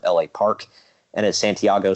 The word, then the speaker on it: La Parka: Park apartment gosh well it was supposed to be la Parque but nobody pronounced it that way so he finally just gave up and started calling himself LA Park and as Santiago says